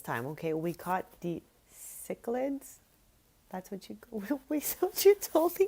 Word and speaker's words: cichlids: I think I tried hard to remember at least the first part because the C is not pronounced how I said it initially.